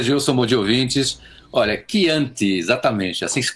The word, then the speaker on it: Chianti: Olha, Chianti, exatamente, assim que se pronuncia, que é um vinho que eu conheço muito bem, em primeiro lugar.